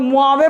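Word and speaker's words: Mojave: मोहावे बोल रहे हो, मोजावे लिखा है, लेकिन वो लोग जे को साइलेंट, अच्छा उसके बाद मुआवे पढ़ते होंगे वो लोग ना, हा भी नहीं लगाते होंगे, मुआवे पढ़ते होंगे क्योंकि जे साइलेंट है ना।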